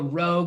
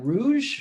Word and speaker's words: rouge: Oh, rogue, like the color. That what color is? How do you say that? Rouge.